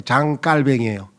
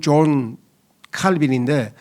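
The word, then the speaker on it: 장 칼뱅: 그런 식으로 프랑스로 발음하면은 장자크루스 할 때 장갈뱅이에요. 영어로는 존빈인데 장갈뱅이라고 요즘은 많이 해요.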